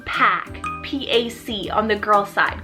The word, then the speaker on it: Pac: helped by god then we have the name pack p-a-c on the girl's side guys this one's